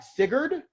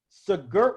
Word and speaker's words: Sigurd: But if it's something like Sigurd, which is spelled with an R at the end, you don't say the R because in the actual, I learned this yesterday, in the actual Norse language, that is like one syllable.